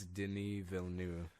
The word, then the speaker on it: Denis Villeneuve: talking over you it's Denis Villeneuve then even though you don't pronounce any of those letters Oso drangus veld oh